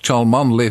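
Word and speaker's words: Cholmondeley: take the Mickey out of those who can't pronounce good English it's Ralph chalm only Featherstone hawk in bolu or possibly fanshaw in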